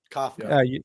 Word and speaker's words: Kafka: Mike Kafka. Yeah, something like that. Kafka.